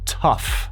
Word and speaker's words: tough: Tough. Se escribe de forma muy extraña, yo sé, pero se pronuncia tough.